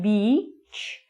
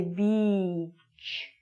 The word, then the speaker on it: beach: But you have to draw out the E sound. You have to say beach. The bad word that might come out of your mouth is bitch. This is a much shorter word. So this is a very, very long E sound.